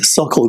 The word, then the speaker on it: Sokol: and drilling and stuff like that from this Suckle group that we call it. It's SOKOL, is the way it's spelled.